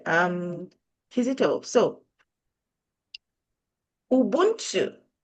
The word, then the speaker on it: Ubuntu: and by the way, in my language, Kinyanda, Ubuntu is pronounced as Ubuntu, which is pretty much just getting things for free.